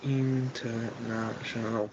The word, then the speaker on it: international: anytime uh international uh is international five syllables with stress on na international and i think